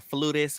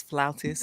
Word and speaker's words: flautist: I need to do a dig at CBS because not y'all called her a flutist when the correct pronunciation is flautist.